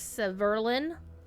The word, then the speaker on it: Severlin: days ago that Seb's the correct pronunciation is Severlin.